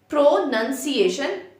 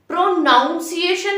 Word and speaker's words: pronunciation: तो देखो guys, it's like प्रोनंसिएशन, प्रोनंसिएशन एंड प्रोनाउंस। प्रोनाउंसिएशन नहीं होता है, इट्स प्रोनंसिएशन।